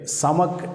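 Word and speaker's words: סמך: சேர்த்தோம்னா இந்த எழுத்தை சமக் அப்படின்னு உச்சரிக்கிறோம்.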